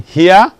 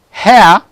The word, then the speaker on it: hair: Then number 19 is hair, not here. It is hair, fair, not fear. If for example somebody, you